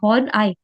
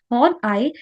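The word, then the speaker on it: Horney: Okay, next में आते हैं, हाउ वुड हॉर्न आई, इसकी प्रोनाउंसिएशन क्या है? हॉर्न प्लस आई, ई वाई ई। ठीक है, तो उसको बोला जाता है इस तरीके से, हॉर्न आई। हॉर्न आई explanation of depression be different from Alfred Adler.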